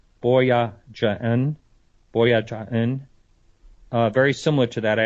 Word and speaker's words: Boyajian: And Tabitha, I'm going to try to pronounce her name right, Boyajian, very similar to that.